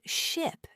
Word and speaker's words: ship: For example, the word ship and sheep. They look similar but sound different. Ship has a short I sound and sheep has a long e sound.